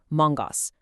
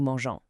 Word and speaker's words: mangeons: g o n s, which forces a hard g sound, mongos. Nobody wants that. So, to keep that nice soft g, French smartly keeps the e, giving us new mangeons.